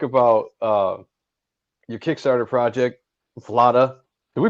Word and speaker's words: Vlada: uh your kickstarter project vlada did we pronounce that right because sean and i were going over that it's like vlad vlad with an a yeah that's what i